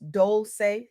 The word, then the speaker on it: Dolce: I'm Dolce, pronounced Dolce, like sweet softness whispered in French, and I'm your guide